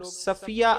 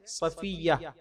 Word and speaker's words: صفیہ: رضی اللہ تعالی عنہا، اس کا تلفظ بھی کچھ لوگ صفیہ ادا کرتے ہیں، درست تلفظ ہے صفیہ رضی اللہ تعالی عنہا،